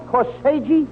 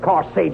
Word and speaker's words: corsage: Oh, Abbott, I bought her the most beautiful corsage. That's no, not corsage. You mean corsage? No. You mean corsage. AGE is pronounced arge, as in corsage and garage.